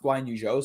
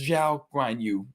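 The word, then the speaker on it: Zhou Guanyu: It's not Guan Yu Zhou, so my mistake for that. I apologize. It's, I believe it's Zhao Guan Yu is the way that they are pronouncing on air, and that's the way we should present it going forward as the name is set out.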